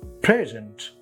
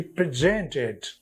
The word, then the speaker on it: present: the a wrong syllable so as with this wood present when it is adjective it's present Accent on the first syllable yes sir I am present here but when it is a verb What Happens he presented a beautiful bouquet to the newly married couple he presented not presented but presented verb has Accent on the second syllable now third example invalid